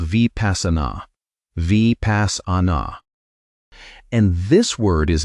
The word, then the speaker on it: vipassanā: The second practice is called vipassana.